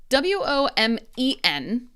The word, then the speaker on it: women: Now here, WOMEN is many.